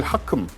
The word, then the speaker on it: HACM: 극초음속 순항 미사일 하큼 하이퍼소닉 어택 크루즈 미사일 약자입니다. HACM 하큼이라고 읽더라고요.